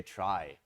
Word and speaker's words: trie: as keys so the the name is traced to come from retrieval that's why it's spelled in this awkward way but then tree is kind of taken already and would confuse the heck out of people so instead we say try I don't know if